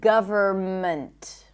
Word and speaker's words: government: The N is silent in the words hymn, not hymn, condemn, closing my lips, ending with an M, autumn, and government. I do not pronounce the N here.